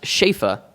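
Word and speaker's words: שפע: in it it's a hebrew word uh it's pronounced shafa and actually means abundance uh it's the hebrew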